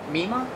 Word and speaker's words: Meemaw: Meemaw? Meemaw. Well, I spell it M-E-M-A. It sounds M-E-M-A-H-W.